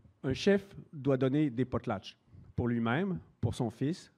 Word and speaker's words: potlatch: Et ça se prononce, donc ça vient du chinook. Et ça se prononce quelque chose comme potlatch, avec un tch à la fin.